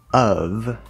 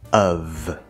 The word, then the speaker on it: of: Of is a schwa sound plus the sound V. It's spelled with an F, but it's V.